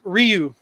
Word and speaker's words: Ryu: Dude, it's Ryu. It's sure? Yeah, the way Japanese is pronounced, it's Ryu Senin.